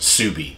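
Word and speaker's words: Ksubi: pick these pieces up the next piece is pronounced subie k-s-u-b-i um it's an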